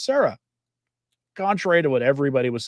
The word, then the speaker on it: Sarah: him to say his name and it's actually pronounced Sarah, contrary to what everybody was saying for years.